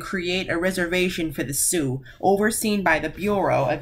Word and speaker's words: Sioux: Sioux is pronounced Sioux. Like, say with me, Sioux.